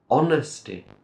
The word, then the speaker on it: honesty: we have another noun honesty honesty remember we have a silent h sound we do not say honest no o on on okay honesty next we have an